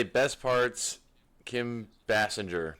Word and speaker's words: Basinger: Kim Bassinger. Basinger. How do you say it? Bassinger.